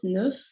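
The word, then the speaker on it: neuf: does change the sound for f it will be pronounced as a v so i'm nine years old nuf is it sounds like a v and i want to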